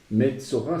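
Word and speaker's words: מצורע: un vav, Metzo, et c'est le vav qui fait le O. Eh bien, dans ce cas, il faut alors ajouter la lettre vav pour prononcer O. Metzora, cette remarque nous rappelle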